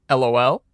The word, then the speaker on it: Lol: And she goes, "Lol." And I go, "It's pronounced LOL.